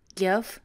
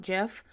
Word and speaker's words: GIF: bang i am definitely team gif not jeff and i love them